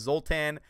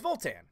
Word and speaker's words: Voltan: Is it Zoltan or Voltan? Have I been saying it wrong? My bad. No, it's Voltan. Yeah, that's what I thought. I was like, Zoltan. No, it's like, it's Voltan.